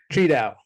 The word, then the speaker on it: Tri Dao: thank you for joining us today uh venerable is that how you say it your name cheat out okay what makes you fearful about the future